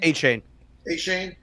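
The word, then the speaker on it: Achane: Ashane, and Samaje Perine.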